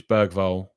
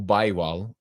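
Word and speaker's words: Bergvall: pronounce their names and Lucas bergville as I've been calling him as most I've been calling him or baywell as I'd also got told he was called um beral beral are we gonna call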